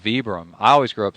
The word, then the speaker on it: Vibram: People tell us, is it Vibram or Vibram? Vibram makes more sense to me the way it's spelled. Yeah, like vibrate. Vibram would be like VEE. But they're Italian, so who knows how they say it over Oh, there.